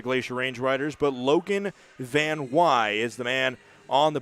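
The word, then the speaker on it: Van Wey: I believe this is the first time that he's had his name pronounced correctly, spelled V-A-N-W-E-Y, but it is Van Wy.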